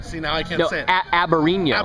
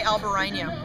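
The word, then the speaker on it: Albariño: And I learned that that varietal, it's pronounced Aberino. Aberino, right. Yeah, it's not Al. You don't pronounce the L. Al. And you don't say Albarino.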